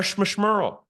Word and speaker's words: schmishmerl: Now we've got something called a schmishmerl. It rhymes with referral.